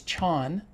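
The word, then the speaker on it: Chan: It gets pronounced in China as chon, which is what Zen is called in China. And chon is pronounced as zen in Japan.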